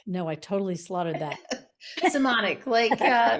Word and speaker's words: Simonic: Today, I've got a really fun episode with two women, Masey Kaplan and Jen Simonic. No, I totally slaughtered that. Simonic, rhymes with harmonic or demonic, whatever you choose.